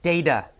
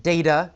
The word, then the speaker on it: data: In the first paragraph, we have the word data. Some people pronounce it data. Some people say data. Either is correct.